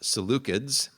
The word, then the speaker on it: Seleucids: Around the year 200, a group of, again, people descended from Alexander, the Seleucids, also sometimes pronounced Seleucids, take your pick, potato, potato.